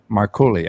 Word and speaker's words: Marcole: And now, am I pronouncing that right? Marcole? Marcole. Marcole.